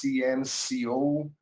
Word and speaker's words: CNCO: o grupo CNCO, CNCO, e pronuncia-se em inglês CNCO, que parece silêncio, mas na verdade é o 5 sem o I.